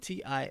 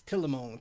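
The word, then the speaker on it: Tillimone: a 2016 called till I'm on E so it's spelled t-i-l-l-i-m-o-n-e a lot of people look at the name they don't really know what it is because it's just it's telemone tell them they don't know how to pronounce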